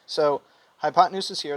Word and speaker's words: hypotenuse: to abbreviate it height notice how it's spelled hypo 10 and use right hypo is hypo and the word 10 t e n and use use this helps me spell it you guys hypotenuse but you don't say it that way you're going to say it smoothly like hypotenuse all right and it's